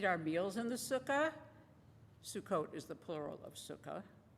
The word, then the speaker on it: Sukkot: That's spelled S-U-K-K-O-T. It's not suck it. Sukkot.